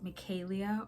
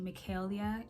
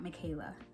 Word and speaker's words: Micaelia: My name is Micaelia, or you can say Micaelia. Either of those are fine, but my name is not Micaela, so I won't respond to that. But Micaelia, either of those are fine.